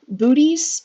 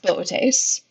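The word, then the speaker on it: Boötes: and the constellation of the tastes I know it's spelled bootys but it's pronounced bit ace and you can see it's that kind of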